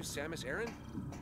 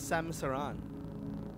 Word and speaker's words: Samus Aran: so high-tech Samus Aran Samus Aran that's how they pronounce yeah I always thought it was Samsa Ron that's how I've always pronounced it Aran Iran because to